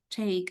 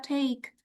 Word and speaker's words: take: Jadi jangan lupa ada i-nya, bukan take tapi take.